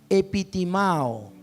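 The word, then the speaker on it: ἐπιτιμάω: palabra esta palabra reprendió en el original griego se promete se pronuncia epi timao qué significa imponerse sobre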